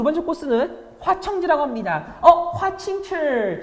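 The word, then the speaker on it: 華清池: 화칭칠, 중국 발음 화칭칠.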